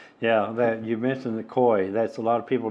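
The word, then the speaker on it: cuy: Yeah, that you mentioned the koi. That's a lot of people don't know what koi is. And that's not spelled the way it sounds. It's spelled C-U-Y.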